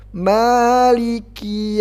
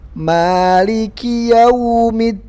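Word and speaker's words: مَالِكِ: Huruf kaf itu ada hamznya. Jadi ada hamz, apa arti hamz? Ada angin yang keluar. Maliki ki. Jadi bukan maliki ki tapi ki. Ada angin sedikit aja. Ada angin sedikit saja yang keluar.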